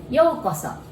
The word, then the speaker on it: Yōkoso: saying it and today we're going to learn yokoso it means welcome a few lessons ago we